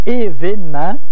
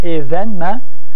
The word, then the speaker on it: événement: Alors, c'est sans doute l'événement, on prononce événement et non pas événement. On dit l'événement. On prononce l'événement habituellement, mais on écrit l'événement duquel je garde le meilleur souvenir.